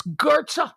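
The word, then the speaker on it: Goethe: you like Johan Gerta it's gertza I know there's no r in it I know that it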